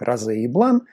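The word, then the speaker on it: Rose et Blanc: чайная называется раза тиру произносить нужно именно так Розе и Блан потому что там всё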